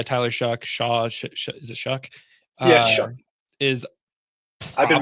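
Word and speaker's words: Shough: Uh Tyler Shuck Shaw, is it Shuck? Is I've been mispronouncing Tyler Shuck for a while. I finally got it down. I just heard it was Shuck uh two hours ago.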